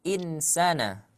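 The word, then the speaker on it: إِنَّ ٱلْإِنسَـٰنَ: Innal insana atau insana? Innal insana. Ketika ada insan itu dibacanya ikhfa.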